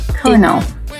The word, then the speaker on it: colonel: So, colonel.